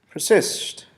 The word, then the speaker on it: persist: word we have persist persist has two syllables per cyst persist once more persist persist the accents is placed basically on the second syllable and i persist your